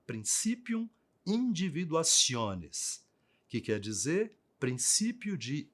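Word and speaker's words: principium individuationis: chamado em latim de princípium individuacion escreve-se assim mas pronuncia dessa forma princípium individuacion que quer dizer princípio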